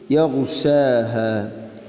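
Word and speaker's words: يَغْشَاهَا: ഗൈന് അതിൻ്റെ ഉച്ചാരണ മഖ്റജ് മാറിപ്പോകരുത്. തൊണ്ടയുടെ ഏറ്റവും മുകൾ ഭാഗമാണ് അതിൻ്റെ മഖ്റജ്. യഗ്ശാഹ. ഇനി മഖ്റജ് ശരിയാക്കുന്ന ആളുകൾ തന്നെ അതിനെ ഖൽഖല ചെയ്യരുത്. യഗ്ശാഹ യഗ്ശാഹ അല്ല, യഗ്ശാഹ യഗ്ശാഹ. വല്ലൈലി ഇദാ യഗ്ശാഹ ഈ രൂപത്തിൽ.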